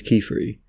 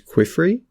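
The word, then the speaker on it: Qifrey: in my videos, but I pronounced him as Quifrey, which, you know, I thought that made sense, because he's a scholarly guy, he draws with a pen, so it's like Quill and Free or something.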